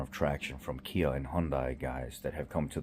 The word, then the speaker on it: Hyundai: a huge amount of traction from Kia and Hyundai guys that have come to the channel and there is the average person that has you know like an older Hyundai or something like that Kia Hyundai somebody said